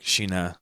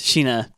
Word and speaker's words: Sina: Maria, Rose, and Sina. Right, but they say it like Shina. Yeah, they say. I don't want to be a gaijin. So. In Japanese, Shina.